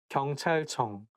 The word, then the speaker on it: 경찰청: So I think it's because CH sound, like when it's placed next to each other, I think it's going to make the word not easy to pronounce. 경찰청, 경찰청. And it also has 이응, 응 sound at the end of each character.